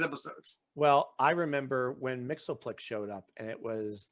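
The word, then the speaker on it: Mxyzptlk: It's pronounced Mixoplex. It's not Mixius Spitlick.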